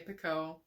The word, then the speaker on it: Picoult: Jodi Picoult, or however you pronounce her last name. I say Picoult.